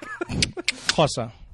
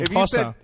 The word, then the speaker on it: Xhosa: Yeah, it's a click. Xhosa.